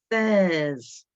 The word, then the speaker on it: seize: Seize is another slightly tricky one. Six for 6, seize for 16.